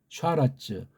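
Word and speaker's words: שָׁרַץ: 몸뚱아리가 샤라츠, 움실거린다. 샤라츠. 이게 쉬 발음이에요.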